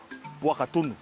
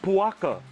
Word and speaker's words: Puaka: Puaka. Puakas. In Moana, they only shorten Pua. Bro, we don't do that here. We don't do that here. Puaka. We say it completely.